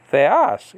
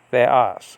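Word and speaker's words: θεός: If you go to theos, okay, in John 1:1b, you have the grav marker, okay. that's pointing the other way, and that's telling you to drop the accent right then and there in the second syllable. Okay, so you don't say theos, you say theos. You see how it drops?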